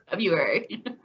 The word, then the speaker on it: February: month of the year february you don't pronounce the r oh i feel bad